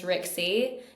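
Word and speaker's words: Rykse: It's spelled R Y K S E, but you pronounce it R I X I E.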